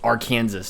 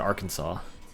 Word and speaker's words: Arkansas: But you don't pronounce the S at the end. It's Arkansas, technically. But we pronounce it Arkansas.